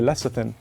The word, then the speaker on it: lecithin: This one right here is soy lecithin. You've probably heard my Food Wars co-host Joe mispronounce this one a million times.